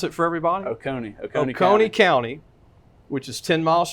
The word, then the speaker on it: Oconee: I saw that your old high school, pronounce it for everybody? Oconee County, which is 10 miles from Athens, Georgia,